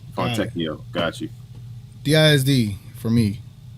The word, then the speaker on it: Fontecchio: And Gina Kim said, the T is pronounced Tecchio. Okay, Tecchio. Fontecchio.